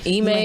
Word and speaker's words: Ime: I can't pronounce his name. Sorry. Is it Ime? Yes, Ime.